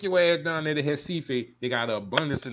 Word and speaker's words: Recife: And I'm saying Recife, but y'all know words in Portuguese that start with an H is actually a R.